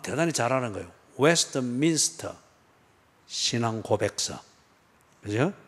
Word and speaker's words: 웨스트민스터: 근데 발음을 웨스트민스터 그래 하지 말고 그거는 한 단어니까 웨스트민스터 소요리 문답.